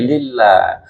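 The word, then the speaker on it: لله: Tapi lek lil tasdid kan k ngih lillah. Nah tasdid lil ngetril jangan lemas lil lillah. Jadi alhamdulillad tasdid.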